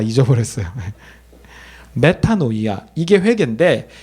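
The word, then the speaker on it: μετάνοια: 영어 스펠링이랑 비슷하죠. 그대로 읽어나가면 돼요. 메타노이아.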